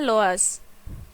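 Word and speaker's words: loess: इसका प्रोनाउंसिएशन है लोअर्स।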